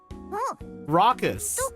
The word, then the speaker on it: raucous: that second word does anyone know how to pronounce that second word I don't rockus oh rockus okay rock what what does rockus